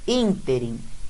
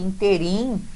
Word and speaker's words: ínterim: Ínterim, é esta que é a pronúncia, porque se fosse interim, a sua pronúncia ficaria interim errado, tá? Já aprende essa, o certo é ínterim.